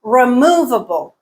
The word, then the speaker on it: removable: Removable, removable. Mu is the stressed syllable.